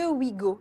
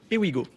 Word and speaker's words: Ewigo: le dirigeant et le fondateur de Wigo. Est-ce que je le prononce bien? Ewigo, précisément.